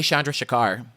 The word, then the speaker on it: Chandrasekhar: I can't pronounce his name and I don't want to butcher it. Can you?" It's Jay Chandrasekhar. He was in the Super Troopers movies. He said he was Jay Chandrasekhar.